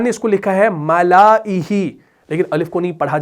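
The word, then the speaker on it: مَلَئِهِ: اس الف کے اوپر گول دائرہ ہے تو اس کو نہیں پڑھنا، تو یہ بنے گا ملائہ. یعنی اس کا تلفظ اگر آپ کریں گے وہ بنے گا ایسے ملائہ. میں نے الف کو ہٹا دیا.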